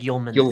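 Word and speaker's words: Højlund: I've been I've it corrected many times like yman is how it's pronounced but uh and then this is your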